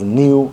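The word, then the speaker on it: ν: uh that V okay actually should be pronounced as new okay but I mean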